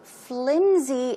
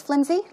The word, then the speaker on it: flimsy: It's not pronounced with an S sound, but it's closer to a Z sound.